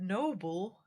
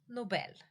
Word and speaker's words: Nobel: Um, Alfred Alfred Nobel or Alfred Noble. Alfred Nobel. So that would be pronounced almost like the the noble had two L's.